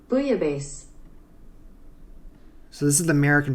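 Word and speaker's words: bouillabaisse: one French viewers are telling me I'm saying booya B is wrong booya Bay they tell me I'm pronouncing it closer to a naughty word in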